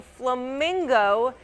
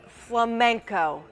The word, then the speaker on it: flamenco: A North Carolina man mispronounced an already solved puzzle by saying flamingo instead of flamenco.